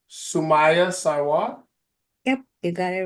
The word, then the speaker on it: Sumaiya Sarwar: Today on Champion Me Zoom, we have, I'm going to make sure I say her name correctly, Sumaiya Sarwar.